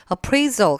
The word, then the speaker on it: appraisal: 직원을 평가하는게 될테니까 st appraisal 같이 우리가 묶어서 보면 좋겠습니다이 자리에 물론 퍼포먼스가 와도 되지만 스를 한번 넣었고요 appraisal 강세 위치가 뒤에 들어가서 얘도 평가라 뜻이거든요 직원들을